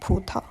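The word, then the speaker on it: 葡萄: In the word budo, both syllables begin with a voiced stop. It is unique in Wu Chinese because in Mandarin, both syllables will start with voiceless stops, and the pronunciation goes like putao.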